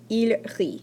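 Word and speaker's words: ils rient: Nous rions, vous riez, il rit. So ri, parce qu'on ne prononce pas le ENT.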